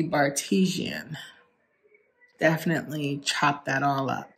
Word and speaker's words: Bartesian: Also, I looked up how to pronounce the name of my new amazing craft cocktails on demand, and it is called the Bartesian.